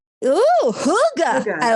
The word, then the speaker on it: hygge: It's called hygge. Ooh, hygge. Hygge, I like it. Hygge, I think is how it's spelled, but the feeling that you're cozy.